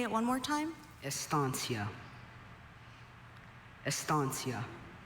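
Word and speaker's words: estancia: Estansia.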